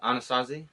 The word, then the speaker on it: Anasazi: Navajo so I I never heard of the anastasi before is that how you say it yeah the Anasazi Anasazi yeah so I'm sitting here telling him